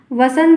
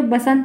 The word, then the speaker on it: वसंत: है तो बसंत वसंत वसंत होता है जो सही शुद्ध वर्तनी कहता है बसंत बसंत की आदत जो लोग डाल लेते हैं और बार-बार उनके मुंह से बसंत ही निकलता है लेकिन जो एक्चुअल में सही है वह वसंत है क्या है वसंत है